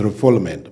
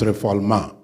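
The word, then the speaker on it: refoulement: So I I in in refugeilo there is uh a doctrine of nonreformulma that's a French word people pronounce is reulment but it's reformulma uh where a person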